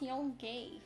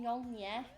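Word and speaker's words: Yong Yea: Oh, you mean Yong-ye? Oh, that's how it's pronounced? Yeah. Okay. Sorry, I just see Y-E-A and assume it's Yi because I'm English.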